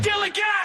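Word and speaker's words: DILLIGAF: A word, Gilligan, that's spelled D-I-L-L-I-G-A-F, Gilligan.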